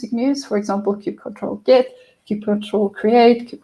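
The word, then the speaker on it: kubectl: another CI tool called Cube control um pronounced differently by different people I I enjoy calling it Cube control myself it just flows for me um and Cube control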